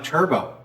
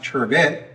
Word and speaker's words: turbot: going to work on a turbo alternately pronounced turbit this is a fish